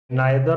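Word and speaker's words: neither: नाइदर ऑफ या फिर नीदर ऑफ। दोनों ही प्रोनाउंसिएशन पता होना चाहिए आपको। कई बार टीचर स्टूडेंट्स को टोक देते हैं कि नहीं ये नीदर नहीं होता, नाइदर होता है। अरे दोनों ही होते हैं, इधर भी होता है, आइदर भी होता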